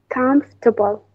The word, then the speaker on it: comfortable: This one should be silent. Now say it. Comfortable.